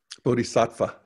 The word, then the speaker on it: Bodhisattva: Bodhisattva.